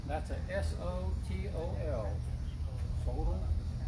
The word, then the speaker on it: Sotol: This guy, you can choose your pronunciation. That's a S-O-T-O-L.